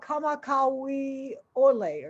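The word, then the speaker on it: Kamakawiwoʻole: to butcher his last name i think it's pronounced israel kamakawi olay or something but he has since passed away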